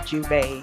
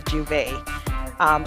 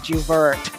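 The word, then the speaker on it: J'ouvert: of carnival we would have this event called juvent we pronounced the juve some people most isla most stateside people pronounce it juvert but we pronounce it juve well that's um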